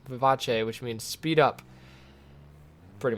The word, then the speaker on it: vivace: one wheel and yes I did say Vivace because that would be how you pronounce the name of this it's not Vivas technically it's a musical term Vivace which means speed up